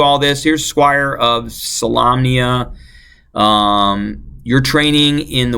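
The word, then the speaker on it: Solamnia: how to say salamnia salamnia it is lamb with an Lam okay there you go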